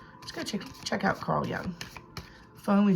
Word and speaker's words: Jung: Just go check out Carl Jung.